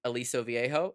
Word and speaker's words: Aliso Viejo: In Aliso Viejo.